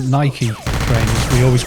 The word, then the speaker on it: Nike: i think calling yeah it is nike is how it's supposed to be pronounced but if you ask for nike trainers in the uk no one looks at you funny put it that way